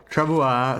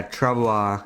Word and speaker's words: Travois: Travois sounds more like a French pronunciation. Yeah, Travois, yeah. I just say Travois.